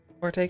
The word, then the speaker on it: forte: Forte can be pronounced fort and was a preferred for a long time.